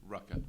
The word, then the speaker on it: Rucka: Like they said, we have Greg Rucka or Rucka? Rucka. Rucka. So we got Greg Rucka. Rhymes with the popular profanity.